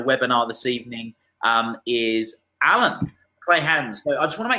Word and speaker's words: Kleynhans: In South Africa, we say Kleynhans, but to make it easier for people here, I always say, say Calvin Kleynhans, you know?